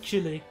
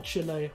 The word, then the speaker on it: Chile: many lithium deposits mainly in South America like Chile or Chile you pronounce it are there any um is there